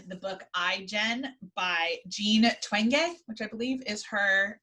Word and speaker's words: Twenge: book i jen by jean twenge which i believe is her uh is how i say her name doctor gene twengay who is a researcher